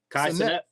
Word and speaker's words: Kai Cenat: Kai Cenat.